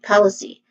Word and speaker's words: policy: Again, policy starts with pa, which is a short o sound, then le, which is a schwa sound, and then c, which has a short e vowel sound. The stressed syllable is on the first syllable po.